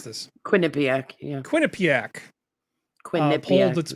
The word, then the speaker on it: Quinnipiac: I never get how do I pronounce this? Quinnipiac, yeah.